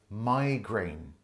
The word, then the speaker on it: migraine: pronounce it migrain but the majority of people say migraine this is a type